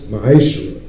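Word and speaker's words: מעשר: 3 8 through 10 means 10th in hebrew and is pronounced maisha 10 of every penny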